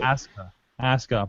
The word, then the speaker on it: Asuka: Just don't pronounce the U. Asuka.